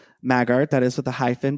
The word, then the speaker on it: Maggart: about who Fiona Apple McAfee magar is or is it maggot would you say how would you pronounce yeah yeah so let Zach tell us who's Fiona Apple who we're discussing this season well you just said her full name Walker it is Fiona Apple McAfee maggart that is with the